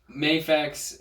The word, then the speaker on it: Mafex: Mafex or Mafex? Do you know how to say it? No one knows. Okay, it's Mafex, Dark Knight Returns Superman,